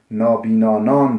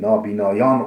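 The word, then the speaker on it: نابینایان: Nabina, nabinanan demişim. Nabinayan olacak. O bir.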